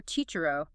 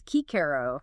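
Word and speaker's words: Cicero: No more chicherro. It's Kikaro and Gian and GM. Always a hard G.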